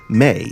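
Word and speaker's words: Mai: also the managing editor of the academic journal May, Feminism and Visual Culture. That's spelled M-A-I.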